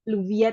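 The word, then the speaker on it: Lluvia: Jadi Juvia ini teman-teman kalau dari pronounce dari bahasa Spanyolnya gitu ya Juvia. Tapi teman-teman kalau lebih enjoy bilangnya Luvia itu juga nggak apa-apa gitu teman-teman.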